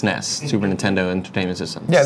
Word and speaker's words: SNES: initialism Akron ISM is like SNES which was pronounced Nest Super Nintendo Entertainment System